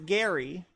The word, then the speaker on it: Geddy: You know, his birth name is Gary, but his Polish mother pronounces it Geddy, basically. So he changed his name to Geddy because everybody called him Geddy because his mom.